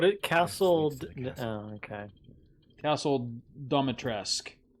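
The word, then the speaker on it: Dimitrescu: Castle Domitresk. Oh, I thought it was Demetrescu. Well, I mean, that's how it's spelled, but the pronunciation, I think for some reason it's a silent U.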